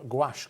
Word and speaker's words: gouache: to cut out decoupage and thank you for pronouncing gouache correctly is pronounce um so we've done it